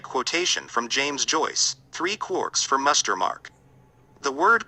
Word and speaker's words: quark: from james joyce three quarks for muster mark the word quark is supposed to be pronounced like quart but with a k at the end instead of a t but is usually pronounced